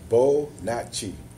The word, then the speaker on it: Bonotchi: It's pronounced Bonotchi. Bonotchi.